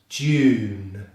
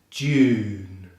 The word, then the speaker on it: June: Often when you see an E at the end of the word, we don't pronounce that E.